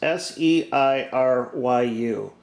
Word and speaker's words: Seiryu: Hey Google, how do you pronounce Seiryu?